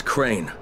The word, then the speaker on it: Crane: no my name is crane okay crane rhymes with train and brain and sign and Grain and rain and plane and the other kind of plane and and but can